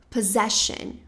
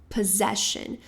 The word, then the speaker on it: possession: Mas na verdade esse esse primeiro grupinho de S que a gente tem aqui vai ter o som de Z.